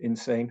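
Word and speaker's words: Insein: men were executed in insane prison this is one of the most notorious prisons in Myanmar it's not spelled insane but you do pronounce it insane which is an irony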